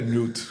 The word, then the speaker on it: Newton: Aí fui para lá, vou tentando pronunciar essa palavra correta aqui, porque não é Newton, é Newton. Então, fui para lá, comecei a fazer uma casa numa esquina de uma rua, dali para lá.